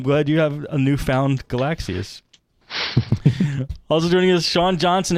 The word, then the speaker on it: Galaxy S: today that my phone is not a Galaxy S it's a galaxies what I think yeah the galaxies from the new Galaxy S3 that got um debuted today and that's the way they pronounce it which is cooler sound